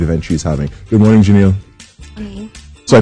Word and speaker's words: Janelle: Good morning, Janelle. Morning. So I pronounced it right?